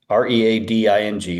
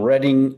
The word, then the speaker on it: Reading: R E A D I N G, Reading. Spelled like reading.